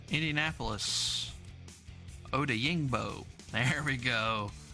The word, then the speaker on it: Odeyingbo: Odeyingbo. There we go. Odeyingbo.